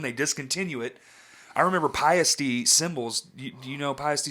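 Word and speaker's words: Paiste: I just thought it was paste. Pasty, yeah. I was told by a professional, now, whatever, but it was a touring road person because I did all those, I used to do work production. Yeah. And he was like, it's actually Piety. That's how they say it where it's made or whatever, which I believe they're German as well.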